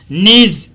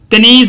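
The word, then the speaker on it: knees: Value put his head down on हिज नीज, नीज कनीज बोलते हैं student इसको, केस इसके अंदर साइलेंट है।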